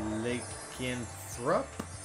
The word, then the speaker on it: Lycanthrope: And Lycanthrope, that's how you say it.